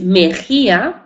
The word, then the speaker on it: Mexía: Rivera mía que es Mejía hemos dicho que la letra X se pronuncia aunque se escriba como x se pronuncia en muchos términos como J porque evolucionó desde la